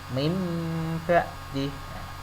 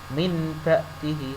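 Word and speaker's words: مِن بَعْدِهِ: ini diganti dengan Meme tulisannya non mati tetapi bacanya nanti diganti mim mati mimba'di mimba'di Hai diganti seperti ini seolah-olah nembak dih Hai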